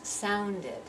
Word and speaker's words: sounded: so it's it's logical so here we've got sound is one syllable and now I have to pronounce the e D ending as if it's completely separate syllable so sound becomes sounded and I need to hear that rhythm sounded so sounded start and